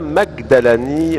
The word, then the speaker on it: Magdalani: à vos côtés Magdalani, mais en Égypte le je se prononce ge.